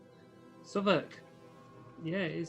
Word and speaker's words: Southwark: Southwark. Yeah, it is Southwark. Mhm. The W is silent.